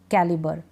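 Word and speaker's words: calibre: जैसे BRE को हम बर पढ़ देते हैं, GRE को हम गर पढ़ देते हैं, TRE को हम टर पढ़ देते हैं, जैसे इन स्पेलिंग्स में है सेंटर, थिएटर, कैलिबर।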